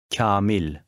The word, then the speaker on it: Kamil: Kamil. The long A affects the sound of a preceding K, making it sound softer.